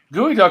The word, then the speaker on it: geoduck: If you're reading it, it looks like it's geoduck, GEO duck, but it's pronounced gooey duck.